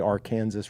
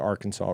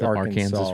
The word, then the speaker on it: Arkansas: thing I care about honestly on how people pronounce things is that they don't say the Arkansas River that they say the Arkansas River as it comes through Kansas it is still the Arkansas River it is the Arkansas River no it